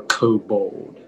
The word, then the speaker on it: kobold: origin please yeah uh it's a german word k o b o l d kobold perfect next up we have speller143 hi